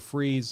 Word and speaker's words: Fries: His last name is spelled Fries. I get why a guy with a mustache like that would go with the pronunciation of Freeze.